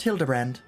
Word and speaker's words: Hildibrand: It's pronounced Hildibrand.